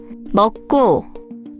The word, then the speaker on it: 먹고: So in 먹고, 더 기억 after another, 기억 becomes 쌍기억, which is why we say 먹고.